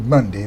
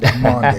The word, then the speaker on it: Maundy: That's not trying to be Monday. That's Maundy.